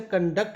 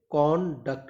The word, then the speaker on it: conduct: ये word noun है तो हम इसे कंडक्ट नहीं बोलेंगे, कॉन्डक्ट बोलेंगे, कौन पर स्ट्रेस डालने वाले हैं।